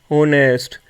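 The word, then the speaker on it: honest: नरे बल honoured our ऑनेस्ट ठीक है तो यह सब जो वर्ड है इनसे पहले एच आया और वो साइलेंट है उसकी आवाज नहीं आती है तो वहां पे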